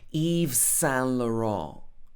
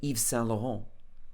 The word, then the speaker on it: Yves Saint Laurent: So I know this is not the correct French pronunciation, but when we turn something into English, we will often anglicize it. We will have like a more English style pronunciation. So we might say Yves Saint Laurent, but in French it might be something like Yves Saint Laurent. Okay, something like that.